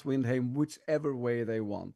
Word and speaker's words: Windheim: not very indepth description of everything that's on Windhame. And yes, that's how you pronounce it, Windhame. Windh. But I'm Look, I'm no purist. You can, anyone can pronounce Windhame whichever way they want.